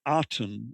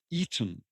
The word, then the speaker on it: Aten: So it's not the Aten as we normally pronounce it. It's more the Eden, or the Eden, and it's the Garden of the Eden.